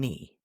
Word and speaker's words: knee: Like in night, no, and knee. The silent K. I didn't hear a K at all.